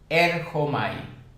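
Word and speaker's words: ἔρχομαι: griego llamado erchomai, y según el Strong se pronunciaría con J, erchomai.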